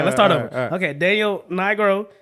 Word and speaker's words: Nigro: we have producer of the year non-classical um Daniel negro n Daniel ain't no way that's how you say his name I'mma say I'm not even going to try Daniel n Nigro okay okay uh D Milly no d m